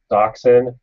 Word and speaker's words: Dachshund: breeding this dog and it's known or it's doxin and that's how you would proun pronounce it from a German perspective u means